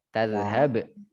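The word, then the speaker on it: تذهب: Dia termasuk huruful halq, huruf kerongkongan atau tenggorokan ya. Dia haknya tuh hak besar, bukan yang huruf setelah jim, ha. Kita bacanya tadhhab. Itu ya. Ha, bukan ha. Itu dia.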